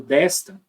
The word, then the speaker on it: desta: esse S daqui do desta você vai pronunciar como um s mesmo esse S daqui do desde você vai pronunciar como se fosse um z desde são Z desde